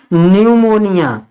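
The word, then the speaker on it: pneumonia: हैं newmoniumonia नहीं पढ़ेंगे इसको इसको क्या पढ़ेंगे निमोनिया अब देखिए टी के बाद टी से शुरू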